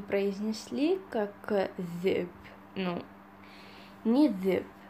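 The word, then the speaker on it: ذئب: Чуть-чуть тяжелое произношение этой буквы. И, к примеру, у нас есть слово «зэб».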